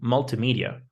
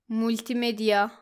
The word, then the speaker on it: multimedia: Now the next word is multi as in multimedia or multiplayer. Some students say multimedia. It should be multimedia. There's no ooh sound.